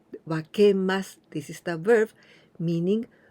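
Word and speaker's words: 分けます: The first kanji we also pronounce wa, wakemasu.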